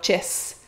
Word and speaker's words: chest: Donc « chest », le S et le T, on va simplifier puis on va prononcer souvent en « chess ».